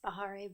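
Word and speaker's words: Bahareh: I'll let you pronounce your name and if you could spell it also for the benefits of um committee members. It's Bahare and it's B A H A R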